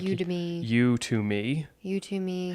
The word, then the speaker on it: Udemy: pronounce it, but it's Udemy, which is Udemy. Almost like Academy, but Udemy was how I would. And I'm not sure if they're trying to get it to be like Udemy.